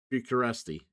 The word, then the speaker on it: Bucharest: Bureaucr I'm I'm I'm saying it wrong. Uh bu uh Bucharest.